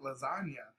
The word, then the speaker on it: lasagna: move in silence like lasagna and a lot of people were like huh it's like yo because you don't hear the g right it's a silent g and i always tell